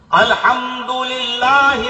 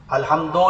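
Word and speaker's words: الحمد لله: अल्हम्दुलिल्लाहि रब्बिल आलमीन। अल्हम्दो नहीं है, रब्बिल नहीं है, रब्बिल आलमीन।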